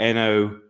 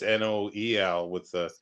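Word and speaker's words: Noël: in mine it's spelled Nowel, and that's why I wasn't sure what it was meant to No, be. yeah, it's not Nowe, it's Noel with that little thingy on top.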